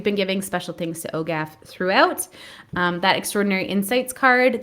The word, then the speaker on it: OGAF: I pronounce it OGAF.